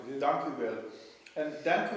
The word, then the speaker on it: dank u wel: dank u wel. Dank u. Dank u wel. So not Dankeschön. No, ik dank, not that Dankeschön, that's German. In Holland they say dank u wel. dank u wel.